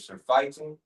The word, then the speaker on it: surfeiting: Yeah, again, it says, verse 34, and take heed to yourselves, lest at any time your hearts be overcharged with surfeiting and drunkenness and cares of this life.